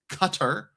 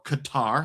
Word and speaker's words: Qatar: Citi has a 30% bonus to Qatar, or Qatar, however you prefer to pronounce it.